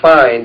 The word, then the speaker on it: phi: Uh a good example of that is the fi ratio. We're going to be talking about the fi ratio so I'll use that one. Fi is is a Greek symbol fi which is spelled phi and it's a number